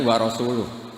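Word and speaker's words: وَرَسُولُهُ: Sesama Sayidina Ali dibenarkan yang benar bacanya itu warasuluh. Allah bari minal musyrikin warasuluhu bariun aidon.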